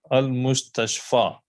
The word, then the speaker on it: المستشفى: Al-Mustashfa. Note that the final chotiye, which is pronounced alif, has no dots.